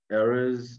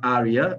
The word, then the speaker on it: area: the uh pronunciation um areas like uh um not it's not ari arya it's area zone huh area i um